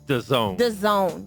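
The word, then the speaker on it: DAZN: It's The Zone. The Zone. So I The didn't Zone. spell that out.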